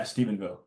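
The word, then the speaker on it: Stephenville: and honest way in special connection is it Stevenville is that how you say it yeah Stevenville Stevenville how important was it to shoot the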